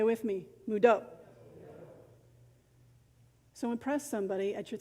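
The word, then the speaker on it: Mvto: it's spelled with english letters m-v-k-o but you pronounce it say with me mudo so impress somebody at your thanksgiving dinner this week when they pass the potatoes say mudo let's talk about thanksgiving friends if you're not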